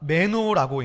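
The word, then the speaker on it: μένω: 이 헬라어 동사가 메노라고 읽는데 이 뜻이 사전에 보니까 to stay, to remain입니다.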